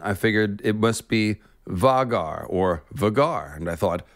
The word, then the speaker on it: Vhagar: has informed me that george does indeed say vegar i usually try to go with the pronunciations that george gives so that's how we'll